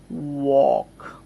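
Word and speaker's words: walk: বুঝতে একটু সুবিধা হবে আমি লিখছি খেয়াল করেন ওক এই যে এটা হচ্ছে সঠিক উচ্চারণ আমি যেটা লিখেছি আপনাদের হয়তো ইন্ডিয়ান ডিকশনারি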